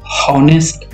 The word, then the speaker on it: honest: Okay, honest नहीं बोलना है, इसे साइलेंट होता है एक्चुअली।